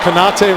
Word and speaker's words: Kanate: Kanate rhymes with karate.